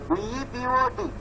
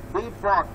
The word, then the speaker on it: depot: D-E-P-O-T. Depot. You cannot say depot. It is depot.